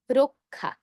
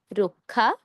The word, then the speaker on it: রক্ষা: রক্ষা শব্দটিতে শুরুতে রয়েছে র, র হলো একটি অধ্বনি। অধ্বনি এর পর ক্ষীয় আছে। অধ্বনি এর পর ক্ষীয় থাকার কারণে ক্ষীয় এর আগে র এর সাথে আমরা ওকার দিয়ে উচ্চারণ করব রক্ষা।